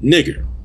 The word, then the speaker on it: nigger: And so what that means is that the anytime you see N-I-G-E-R, it is supposed to be pronounced nigger.